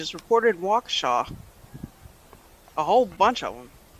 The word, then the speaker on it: Waukesha: reported waukesha a whole bunch of them what where the